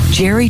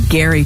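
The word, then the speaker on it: Gerry: to find love barns Jerry Turner pronounced like Gary so sorry Gary Turner he is a 71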